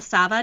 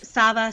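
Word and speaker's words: Sawa: something called um international sava day and sava spelled s-a-w-a but it's pronounced like with a v um and it's actually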